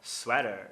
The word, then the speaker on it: sweater: Ele fala sweater. Sweater. Mesma regra. O teta tá entre duas vogais das quais a segunda é átona.